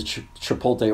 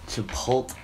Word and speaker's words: Chipotle: But this dude, so I'm ordering my food, and I step down the assembly line that is the Chipotle ordering process, and...